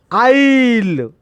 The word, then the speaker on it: aisle: Which is the silent letter? Here vowel is also silent, and S also, S also silent, A also silent. I'll. The pronunciation is phonetic script. I'll. What is the meaning of I'll? Number of letters. E also pronounced. It does not pronounced. And A also, S also. The pronunciation is AISLE, I'll.